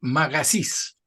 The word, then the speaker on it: Magasich: Eh, tu apellido es Magasís, Eso es. ¿Lo pronuncié bien o no? Sí, sí, está bien.